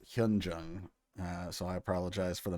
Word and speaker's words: Hyunjung: Also, I keep calling her Hyojung. It's Hyunjung.